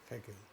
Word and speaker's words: Haeckel: Muy bien, Oscar, hay un autor interesante, quiero pronunciarlo bien, Haeckel, ¿no es cierto? ¿Está bien o no? Sí, Haeckel.